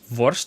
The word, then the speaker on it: worst: because worst uh worst if you pronounce it dutch it's worst and worst is actually sausage sausage is worst in dutch how funny is that